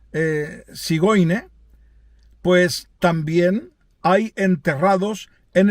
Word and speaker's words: Zigeuner: descienden de estos gitanos, los gitanos llamados Zigeuner, que se pronuncia Sigoine, pues también hay enterrados en el cementerio de Praga, en el cementerio judío de Praga.